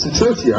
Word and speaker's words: Sikerchia: Their last name is pronounced... Oh, we got it. Sikerchia.